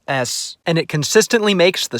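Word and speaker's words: С: At least it helps me remember how to pronounce this letter. S.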